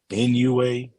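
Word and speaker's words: Inoue: NUA is how you say his name, though, for sure.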